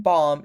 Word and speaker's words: balm: goes for calm and balm lip balm lip balm I hate saying this word because it reminds me of bum But bum and bomb are quite different, right? So the L is silent.